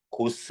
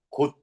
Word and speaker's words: 곳: 단독 발음하면. 고스 안 됩니다. 받침의 스펠링 시옷이 왔지만 시옷은 발음되는 바닷가 미남이랑에 해당됩니까? 안 되면 뭘로 발음해야 됩니까? 그 중에 하나로 바꿔서 발음해야 됩니다. 오케이, 디귿으로 납니다. 곧.